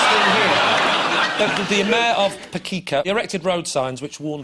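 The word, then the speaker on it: Pecica: Speaking of grim towns, in Romania, what did the mayor of Pekica recently advise motorists to look out for? I think that's how you pronounce it, Pekica. P-E-C-I-C-A.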